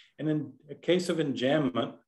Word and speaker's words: enjambment: And in a case of enjambment, enjambement in West Texas, where David hails from, they pronounce everything French, The run-on-ness, if you will, goes from one stanza to the next stanza.